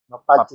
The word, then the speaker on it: Mappacci: Cara Mapacing, pengucapan double C Mapacing. sebenarnya. Mapacing.